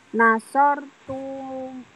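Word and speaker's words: نصرتم: Nasortum. Nah, nasortum gitu ya. Jangan dipanjangkan.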